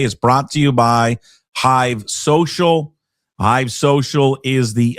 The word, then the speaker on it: HYV: Download the Hive Social app to your smartphone today. iOS store, also Google Play. Just search HYV Social. Again, that's HYV Social, pronounced Hive.